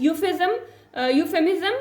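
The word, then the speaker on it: euphemism: Next one इज यूफेमिज्म। यहाँ पे E आपका साइलेंट है तो आपने बाकी की जो है साउंड निकालनी है, जो कि होगी आपके पास यूफेमिज्म।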